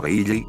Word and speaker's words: Reiji: un juego de palabras, en japonés esto se pronuncia como Reiji, y busqué como Reiji